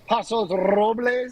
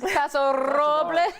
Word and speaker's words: Paso Robles: Isn't that how it's spelled? It says Paso, doesn't it?